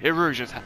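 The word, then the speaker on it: Erusea: Eruzhia, that's how you say it.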